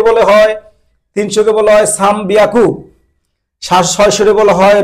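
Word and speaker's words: 三百: 300-কে বলে হয়, 300-কে বলা হয় সাম বিয়াকু, 600-কে বলা হয় রব পিয়াকু, 800-কে বলা হয় হাপ্পিয়াকু।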